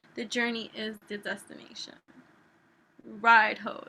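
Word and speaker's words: Raidho: journey is the destination ride hoe that's how you say it literally ride or wagon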